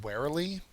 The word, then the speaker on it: warily: Finally, our last word is warily. And warily is an adverb. The first syllable is accented.